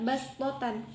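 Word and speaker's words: بسطة: Pada lafadz ini di dalam Al-Quran tertulis huruf shod, tetapi dibacanya sin, sehingga dibaca bastotan.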